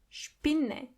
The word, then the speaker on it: Spinne: The S is pronounced as sh as long as there is a P after it. For example, Spiegel. Spiegel means mirror. Spinne.